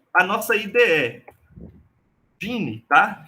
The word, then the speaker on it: Geany: E a nossa IDE, Gine, tá? Que escreve assim, ó, Geane, tá? Mas aí a pronúncia é Gine.